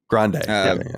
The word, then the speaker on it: Grande: is yeah dude what how do you say it Ariana grand grand just I'm pretty sure it's just Ariana Grande Grande that's how I've heard it most but yeah like I